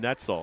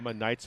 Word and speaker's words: Neitzel: I have good family friends from Wisconsin Rapids, Neitzel, though they pronounce this one Netzel, I think. Okay. But I'm a Neitzel, old German guy.